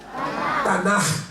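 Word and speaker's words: תנ״ך: Y el Antiguo Testamento en hebreo se dice Tanaj. ¿Cómo se dice? Tanaj. Tiene que ser así, al final. Tanaj.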